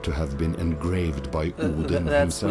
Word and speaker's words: Odin: have been engraved by Odin That's himself. Swedish pronunciation, though.